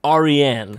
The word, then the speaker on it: Aryan: It's pronounced Aryan. Persian.